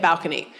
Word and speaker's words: balcony: The stress was on the second syllable, balcony. And English as a Germanic language tends to like stress on the first syllable. Brought it up to the first syllable, we get balcony.